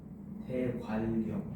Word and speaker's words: 대관령: 그 다음엔 발음이 어떻게 됩니까? 대관령. 대 관령. 그렇죠. 바로 영 요렇게 발음이 됩니다.